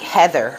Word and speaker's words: Hathor: You actually pronounce Hathor like Heather, okay?